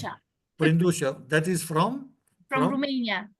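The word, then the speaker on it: Brândușa: So Brindusa, sorry if I don't pronounce It's well your name. Brandusha Brindusha, that is from?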